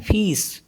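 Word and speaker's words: fils: pronounce करते हैं जैसे एफ आई एल एस तो इसमें एल साइलेंट होता है इसको पढ़ते हैं फीस फीस मतलब सन एंड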